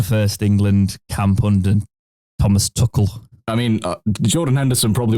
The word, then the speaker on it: Tuchel: What did you think to Thomas Tuchel that they've decided to start saying rather than Tuchel? Because I think that's how the Germanic pronunciation of it would be.